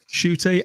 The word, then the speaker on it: Ncuti: at it but that's how we how we pronounce it so welcome to the tardis shooty and uh well yeah we'll talk with more